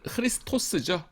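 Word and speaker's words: Χριστός: 오스로 끝나면 보통 이제 이거는 헬라어고요. 라틴어에서는 끝에가 우스로 끝나요.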